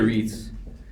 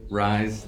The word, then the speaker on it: Riesz: Riesz. Rise, no. No, although, yeah. I guess it could. Like rise the right way though? I thought it was race. But it's EI.